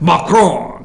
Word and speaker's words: Macron: Macron.